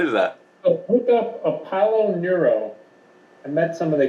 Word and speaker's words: Apollo Neuro: Palo Nero? Apollo, like the god. Oh, yeah. Careful, you don't switch. Apollo Nero?